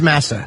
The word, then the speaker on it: Massa: How do you say his last name? I think it's Massa.